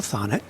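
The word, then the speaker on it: Thonet: His name was Michael Thanet. rhymes with bonnet. Rhymes with bonnet, exactly.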